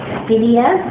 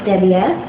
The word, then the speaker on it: stevia: of the HCG diet Stevia or Stevia some people pronounce it different sublingual set point and